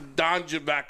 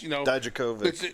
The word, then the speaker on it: Dijakovic: So it's a Keith Lee, it's a Don Javak, or however you say his name. It's Dijakovic.